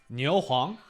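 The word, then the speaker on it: 牛黄: Niu Huang? That's how you pronounce it.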